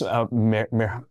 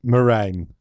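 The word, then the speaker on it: Merijn: And I'm sorry, it's Merhan? Yeah, I would say meringue.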